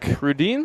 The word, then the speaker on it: Rudine: We've got Rudine. That's how you pronounce it, sir.